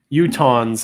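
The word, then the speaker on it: Utahns: Utons is how you say it. Utons. Utans. I am from Idaho and been to Utah many times. Is it Utons? Like utens. Okay. So, it is utons.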